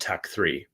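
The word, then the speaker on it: TEKK 3: So years ago, when I formed this company, it was called Tech 3, but it was spelled TEKK and the number 3.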